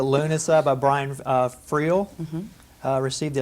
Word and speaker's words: Lughnasa: that way magically delicious dancing at lanessa did I say that right no I've said it wrong every time dancing at Luna Luna okay dancing at lunaa by Brian FR received